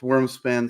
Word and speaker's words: Wyrmspan: that game is whoops worm span there you go that's worms span spelled with a why like it should be um because it's